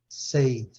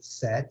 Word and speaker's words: said: Por ele ser sei, a gente tem a tendência a falar said. Certo, Fernando? Sei. Uhum. É a tendência. Mas, infelizmente, não podemos seguir essa tendência. Não segue essa regra, não. Tem essa pronúncia diferente. É say, said, said.